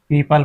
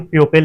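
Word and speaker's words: people: इसी प्रकार हम पीपल पढ़ते हैं। पीपल जी हां, पीपल। इसे हम प्यूपेल नहीं पढ़ते। इसे हम पीपल पढ़ते हैं। यहां हमारा ओ साइलेंट हो जाता है।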